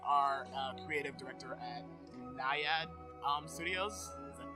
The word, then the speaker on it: Naiad: You currently are a creative director at Naiad Studios. Is that pronounced correctly? Yes, Naiad.